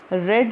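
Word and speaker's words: read: His prayers plural है इसीलिए हमने are auxiliary verb R यूज़ किया है और रीड का थर्ड फॉर्म रेड होता है।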